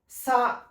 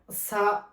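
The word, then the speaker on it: さ: সা। উচ্চারণ কি হবে? সা।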